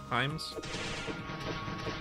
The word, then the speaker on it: Hime: Himes? I know it's Hime, but Himes, yeah. It's a Japanese pronunciation.